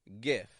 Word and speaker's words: GIF: to make that one just a regular G consonant for that g kind of sound G GIF GIF G is short